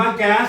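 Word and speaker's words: gas: ชาม 4 ก แก อ่าน ว่า แก๊ส หรือ กาส ก็ ได้ แก๊ส เป็น สำเนียง อเมริกา กส เป็น สำเนียง ผู้ ดี อังกฤษ 4 กาส แก้ว g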